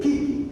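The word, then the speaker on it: 危機: calles o idiograma y se lee kiki kiki viene ser crisis pero al primer que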